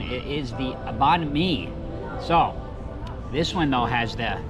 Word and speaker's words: Banh Mi: As we did ask inside the proper pronunciation, it is the Banh Mi.